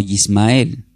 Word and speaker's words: Ismael: El nombre Ismael del hebreo se pronuncia como Yismael.